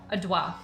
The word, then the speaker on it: Adwa: Adwa, which means It's Adroit. That's how you would pronounce adroit if you were French.